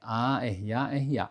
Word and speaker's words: arara: Eh, quando o r se encontra no meio da palavra, né, com uma R só, a gente pronuncia com o ra, certo? Agora, eh, tem uma outra indicação importante que se a letra R for acompanhada duplamente, né, RR, né, aí ele vai ter uma outra pronúncia, um outro som.